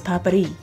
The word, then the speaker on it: papdi: But I listened to a bunch of pronunciations online by native Indians and they pronounce it as papri, traditional Indian flaky sweet with almonds and pistachios.